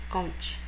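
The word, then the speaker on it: Comte: já era uma teoria do Auguste conte tá se escreve c o m t e conte o conte acreditava que a a verdade ela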